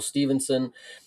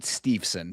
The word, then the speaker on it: Steveson: heard has people done, I've heard people pronounce it Steveson. So I don't know if that is better for you or if that's more correct. But yeah, Steveson is how I've heard it pronounced and how I pronounce it.